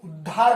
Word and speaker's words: उद्धार: यहां पर लिखने में इसी प्रकार से लिखा जाएगा कि ध इसे आगे लिया जाएगा, जबकि जो है उच्चारण के अनुरूप इसे उद्धार बोला जाता है।